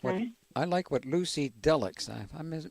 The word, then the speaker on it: Delix: Well, I like what Lucy Delix. I'm mispronouncing her name. Delix, D-E-L. Yes, Yeah. that's correct. That's correct. Like psychedelic.